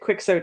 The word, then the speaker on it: Quixote: his name is they would have pronounced it quicksort in england instead of quixote jackson retrieving swallowed objects